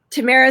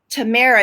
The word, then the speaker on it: Tamara: Tamara says that her legal name is Tamari, but the other pronunciation. So it's not Tamara, it's Tamara.